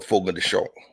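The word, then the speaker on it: Fogo de Chão: And it's called Fogo de Chao. Okay. Or Fogo de Chao, the way Brazilians pronounce it.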